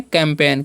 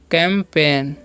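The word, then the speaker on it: campaign: और यहाँ पर लिखा हुआ है CAMP, कैम्प, और AIGN, तो इसे हम क्या पढ़ेंगे, कैंपेन। क्या पढ़ते हैं, कैंपेन, कैंपेन मतलब क्या होता है वो भी सिखाएंगे अभी।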